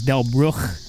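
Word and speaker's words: Delbrück: The actual German pronunciation, which I actually just did an ancestry DNA test, but the actual pronunciation is Delbruch.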